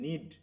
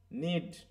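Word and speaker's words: knead: বানানো যেটা আমরা বলি নিড বানানোটা উচ্চারণটা খেয়াল করো কে টা কিন্তু বাদ পড়ে যাবে হ্যাঁ নিড তাহলে হচ্ছে ফিনিশ নিডিং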